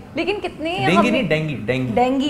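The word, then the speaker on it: dengue: लेकिन कितने डेंगी नहीं, डेंगी डेंगी है। एक थी बहंगी, हाँ, उसको हो गया था डेंगी। ऐसे सिखाता था मैं स्टूडेंट्स को ना, ऐसे करता था कि देखो बहंगी तो डेंगी, ऐसे याद रखना उसकी प्रोनाउंसिएशन।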